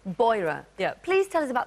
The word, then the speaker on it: Beurer: Do I pronounce it Beurer? Beurer. Beurer.